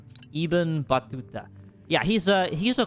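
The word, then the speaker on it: Ibn Battuta: Uh I definitely like uh Ibun Batua, however you say his name. I'm probably butchering that. Iben Batuta. Iben Batuta.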